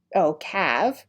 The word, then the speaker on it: cave: The cave, cave, you pronounce the word with a short A, like an A in bat.